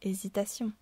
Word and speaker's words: hésitation: En effet, on ne dit pas la hésitation. Le H est muet.